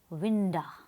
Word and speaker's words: winda: has used the word winda what does it mean to maintain the rhyme scheme of the poem he has chosen to write to binda instead of window as vinda rhymes with Belinda whereas window does not